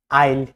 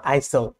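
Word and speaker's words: isle: সাইলেন্ট এস, সাইলেন্ট এস কিছু নির্দিষ্ট word বা মাঝে মাঝে এল ও ই এর আগে, যেমন আইল্যান্ড, নট আইসল্যান্ড, আইল, নট আইসল, আইসল, রাইট?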